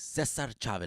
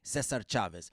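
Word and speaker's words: César Chávez: Cesar Chavez. Let's say it right. Let's say it right. Cesar Chavez.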